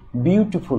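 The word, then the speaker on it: beautiful: এখানে বিউটিফুল হবে না, এখানে হবে বিউটিফুল, অর্থাৎ প্রথম অংশ একটু বেশি স্ট্রেস দিয়ে উচ্চারিত হবে, আর এইগুলি কেন হবে তা আপনারা একটু পরেই জানতে পারবেন।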